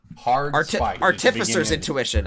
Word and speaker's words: Artificer's Intuition: talking again artificer's intuition artificer's intuition i learned recently that that's how you pronounce it it's artificial yeah which really